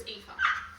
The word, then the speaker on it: Aoife: And you're pronouncing Aoof. When I did read it as Alfie, but I knew it was Aoife.